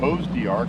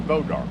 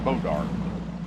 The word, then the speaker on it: Bois D'Arc: here we are we are back at uh bow dark and somebody tried to correct me and say it was Bose de AR and it is not it is Bod dark go look up the pronounce the pronunciation of b o i s